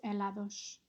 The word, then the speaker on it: helados: Comí muchos helados. Great work, guys. Just make sure on that helados that you don't pronounce the H.